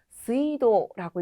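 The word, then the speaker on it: 水道: 물이 흐르는 길이다라고 해서요. 스이도라고 있습니다.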